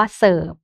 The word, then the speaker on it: เสิร์ฟ: ระหว่าง คำ นะ คะ หรือ ยัง คำ ว่า เสิร์ฟ เงี้ย นะ คะ ก็ ตัว การัน คือ ตัว